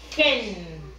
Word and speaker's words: hen: Hen. La H como si fuera la J. Se pronuncia como si fuera la J. Hen.